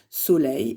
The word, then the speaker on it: soleil: Soleil, eh bien je dis un soleil ou le soleil, c'est un nom masculin. Soleil. Là encore, ce E se prononce est.